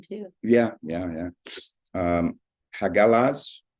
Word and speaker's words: hagalaz: Um, hagalaz or hagal. So, protoger Germanic is hagalaz.